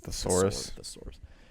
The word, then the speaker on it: thesaurus: own a thesaurus thessalonians source is actually a three-syllable word thesaurus we really are running